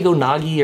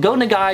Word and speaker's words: Go Nagai: And I think I said it wrong a second ago. Did I say Go Nagi or something? Go Nagai is what we mean here.